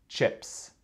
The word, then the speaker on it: chips: OK, donc la prononciation, ça commence avec CH, donc cha, cha. Ce n'est pas ch, c'est cha, cha, cha, cha, cha. Chips. Le deuxième son, c'est e. E. E. Ce n'est pas i, c'est e.